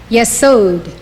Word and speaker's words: Yesod: Yesod, foundation.